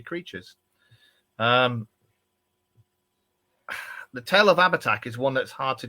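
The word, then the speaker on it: Abhartach: it's called the oh I've got try to pronounce this properly ABAC aback what J this is the ABAC a b h a r t a c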